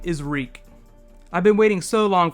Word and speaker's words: Reek: My name is Reek it rhymes with Freak.